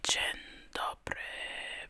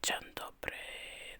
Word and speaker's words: Dzień dobry: One more time, very slowly, "Dzień dobry". Beautiful. You smile back and answer softly, "Dzień dobry".